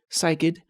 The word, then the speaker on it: cycad: we are looking at a cycad plant sometimes pronounced psychid psychides have not evolved